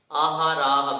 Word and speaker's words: आहाराः: आहाराः में तीनों जो है क्या है? दीर्घ है। इस कारण सभी का दीर्घ मात्रा में उच्चारण होगा आहाराः। रा में विसर्ग होने के कारण राह, इस प्रकार उच्चारण होगा।